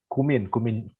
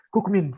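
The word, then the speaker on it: Kookmin: Kayaknya kemarin aku salah ini bilang kan, kalau di sini kan bacanya Kukmin itu kan Kumin itu Kumin University. Nah terus aku bilangnya Kukmin ya kan, itu nggak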